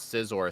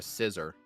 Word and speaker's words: Scizor: what really hurts me is whenever Scott calls Scizor a scissor.